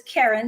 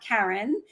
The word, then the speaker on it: Keren: So it's Keren, not Karen.